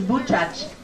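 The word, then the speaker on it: Buczacz: And the pronunciation is Bučac.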